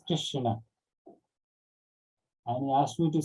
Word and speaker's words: Krishna: the meaning of krishna it is not krishna it is krishna and he asked me